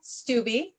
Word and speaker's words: Stubbe: And we're bringing on Julia Stubbe.